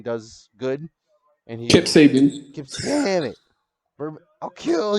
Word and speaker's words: Sabian: So, starting off with the first match is AEW's All Atlantic Championship match, Pac versus Keep Sabine. Or Sabine. However the fuck you Kip pronounce Sabian. it. Sabian.